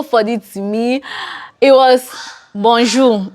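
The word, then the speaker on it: bonjour: that we know and everybody pronounces it like that bonu bonju bonju maybe the French person will actually put some accent to it and put some AR to eat like bonjo like the French people have a way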